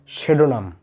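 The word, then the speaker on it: pseudonym: প্রথমে পি আছে তবু এর উচ্চারণ হবে সেডোনাম অর্থাৎ সুডোনাম।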